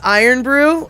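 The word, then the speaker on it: Irn-Bru: there I know exactly oh it's pronounced iron Brew okay well that's good to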